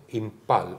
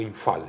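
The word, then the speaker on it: Imphal: La división india y 2 divisiones japonesas, entonces, para ir a el famoso Impal, o Infal se pronuncia, Infal, porque es PH, porque había que descomprimir, digamos, la ofensiva inglesa.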